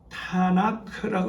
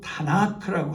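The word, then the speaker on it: Tanakh: 이 성경의 본래 이름은 타나크라고 되어 있습니다.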